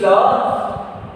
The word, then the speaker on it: la: Because already I told vowel at the final position of a word needs to be pronounced. So here this word is ending with a.